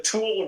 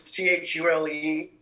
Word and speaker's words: Tule: I think it's the Tule River is what they live next to. It's Thule, and I can't remember the name of the city in California that it runs by.